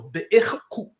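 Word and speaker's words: bI'IH: So be'ich-ku. Ku. Be-ich. It's an I sound.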